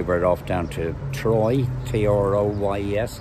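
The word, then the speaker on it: Troyes: off down to troy t-r-o-y-s i think it's pronounced troy and we'll probably get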